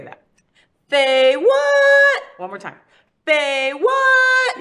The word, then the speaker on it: FayWhat: say um my show my name is Faye what and we say it like that okay say what so look at the camera and say that they what one more time they